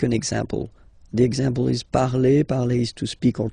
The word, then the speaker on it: parle: So remember, we put it, okay, but then we don't really pronounce it.